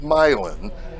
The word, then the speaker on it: Milan: That's about an improbable state championship run for a tiny town called Milan, spelled like the Italian Milan, but pronounced like a Midwesterner would.